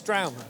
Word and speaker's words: St.raumen: Can you pronounce the name of the act? Well, he can pronounce it better, but it's straumen.